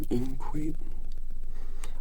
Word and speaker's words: inchoate: Inchoate. I-N-C-H-O-A-T-E. Inchoate. Adjective. Imperfectly formed or formulated, just like my pronunciation of inchoate.